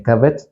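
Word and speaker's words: כבד: gloria, que por cierto se escribe igual que la palabra que le escribí, hígado, pero hígado se pronuncia kabet, kebod, gloria.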